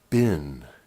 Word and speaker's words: been: It's important to remember to say, to pronounce the word bin, B-E-E-N, correctly, to say it the right way. B-E-E-N is said bin. It looks like you would say it like seen, as in, have you seen my glasses?